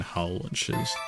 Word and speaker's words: Hull: I went to uni in Hull, which does pronounce the H. Well, I mean, some people wouldn't, but most people would pronounce the H in Hull.